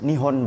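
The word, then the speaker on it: 日本: elektronik mereka selalu berteriak nihon Banzai hidup Jepang itu n itu Nippon itu loh cara bacanya nih on Kemudian pada kita enggak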